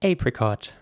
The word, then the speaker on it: apricot: The fruit is spelled A-P-R-I-C-O-T. And in British English, this is pronounced apricot. And in American English, this would be pronounced apricot with an A sound.